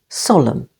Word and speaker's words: solemn: first syllable autum him solemn with the stress on on the first syllable solemn p is silent before